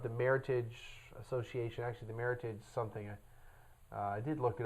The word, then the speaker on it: Meritage: meritage it is pronounced meritage not meritage it is not a French word it is the words merit and heritage put together now to be called